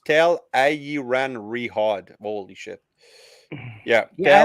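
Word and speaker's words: Tel'aran'rhiod: the stream all right so tell iran riot but it's pronounced tell ie ran rehard holy yeah yeah i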